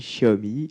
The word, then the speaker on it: Xiaomi: marketing chez xiaobo alors oui ça se dit chaabi même si ça s'écrit est remis quand on me demande ce